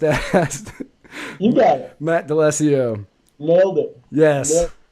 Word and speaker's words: D'Alesio: I'm going to mispronounce this name even though I just asked. You got it. Matt D'Alessio.